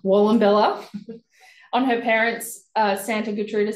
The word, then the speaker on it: Wallumbilla: Wallumbilla. Wallumbilla.